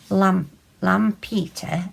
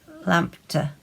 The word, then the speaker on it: Lampeter: We went to a place called Lampeter, Lam Peter. And the old spelling of that was Lampedt. So I presume the Welsh might pronounce it Lampter. Maybe, I don't know.